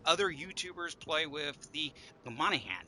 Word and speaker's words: Monaghan: youtubers play with the monahan and yes it's a silent g you could monican monahan whatever um i want